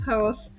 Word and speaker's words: Hoth: It is not pronounced Hoth. It is Hoth.